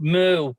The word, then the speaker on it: MU: It's MU pronounced moo because it sounds like bullshit.